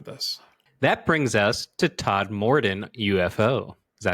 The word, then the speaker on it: Todmorden: That brings us to Todmorden UFO. Is that how you say it, Todmorden?